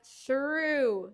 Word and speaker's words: through: que escribimos en McDonald's Drive through solo las letras que se pronuncia through De nada Okay then